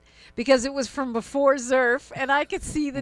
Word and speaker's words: XERF: XERF rhymes with Smurf. Or XERF or surf, right? But not turf.